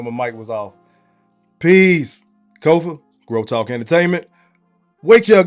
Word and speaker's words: Kofa: I am your humble host, Kofa, K-O-F-A, not coffee, not kufu, not Kofi, or any variation thereof. Kofa rhymes with sofa, easy to say, easy to spell.